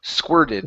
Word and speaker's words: squirted: So, get that ed ending there. So, squirted out. Squirted out. Squirted out. Okay. Instead of, it's squir. Squirted. Squirted out. Okay. So, you're trying to pronounce an e. Okay. It's not. It's squir. Like squirted.